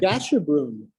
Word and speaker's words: Gasherbrum: Now, this painting, I'm not going to try to pronounce the name of it. Gasherbrum.